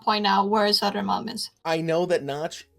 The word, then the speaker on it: Södermalm: So when you say her, right? Yeah. The middle bit, that is the Sada? Sader. Sada. Sader. Sader. Pronounce the R. Oh, sadar. Dar. Sader. Dar. Sadar. Malm. Sadermalm. Södermalm.